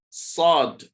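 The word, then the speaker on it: ص: zai, zayun, sin, sheen, sod. Here, this letter doesn't have a counterpart in English, so it's one of the most difficult letter to pronounce in Arabic.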